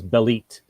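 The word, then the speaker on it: Bêlit: pronunciation speaking of pronunciations we did get a confirmation that it is belite the name is a nod to a female version of bell bale the male canaanite phoenician god that's the kind of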